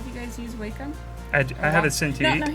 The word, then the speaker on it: Wacom: Oh, someone says, think of Pac-Man, and you will say it correctly. Wacom? Whackman?